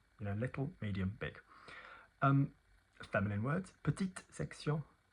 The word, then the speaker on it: petite section: Petite section, not petite section, moyenne section, grande section.